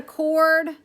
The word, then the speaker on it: chord: it's not a radius they call that a cord it's spelled chord though that's how you spell it cord if they ever